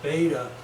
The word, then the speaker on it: beta: The alpha for azimuth, the beta for polar angle. Beta rhymes with theta, polar coordinates.